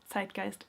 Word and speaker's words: Zeitgeist: They used that as a justification, which pretty much followed the zeitgeist, or zeitgeist as it is actually pronounced, of the Romantic era.